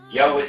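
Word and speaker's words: Yahweh: es el lenguaje original en vez de decir Jehová vamos a decir y que es la pronunciación correcta de las cuatro letras que aparecen en el idioma hebreo yahwe significa el viviente el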